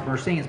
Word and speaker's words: Mercenes: And I, a number of people, to me it's obvious, you see the name and people, it should be pronounced Mercenes, but a lot of people look at that name and they ask themselves, I wonder how you pronounce it.